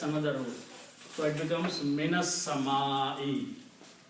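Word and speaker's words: مِنَ السَّمَاءِ: So it becomes minas sama'i. Instead of minas sama'u, you will pronounce it minas sama'i.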